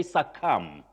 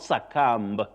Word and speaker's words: succumb: Mata Adongo, you say succumb. To succumb, not succumb.